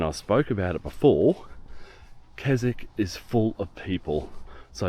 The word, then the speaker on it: Keswick: That down there is where I'm staying, the town or the village of Keswick or Keswick, as it's spelt. People call it Keswick.